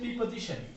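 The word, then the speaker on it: preposition: এবং অন্যদিকে আমরা দেখতে পারি পিতে রয়েছে প্রিপজিশন, পিতে রয়েছে প্রিপজিশন। আমরা যদি আমাদের শিক্ষা ব্যবস্থায় প্রিপজিশন উচ্চারণ করি, আসলে এর উচ্চারণটা মূলত ভুল, এর উচ্চারণ হচ্ছে প্রেপজিশন।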